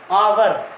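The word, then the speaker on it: hour: और आप ऐसा भी कह सकते हैं कि एच साइलेंट रहता है, इसलिए अपन इसको क्या कहते हैं? आवर।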